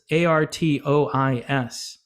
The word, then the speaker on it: Artois: And Stella Artois, or Artois, I don't know how to say it. It's Artois.